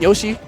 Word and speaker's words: YOC: This is pronounced Yoshi.